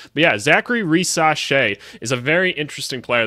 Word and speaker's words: Risacher: Zachary rashe I just went and looked up the name pronunciation cuz I've been calling him Racha this whole time I knew there was probably a different way to say it but you know what